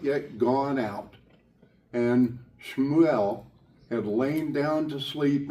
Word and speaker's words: Shmuel: Pronounce the word. The child Shmuel, S-H''MU''EL.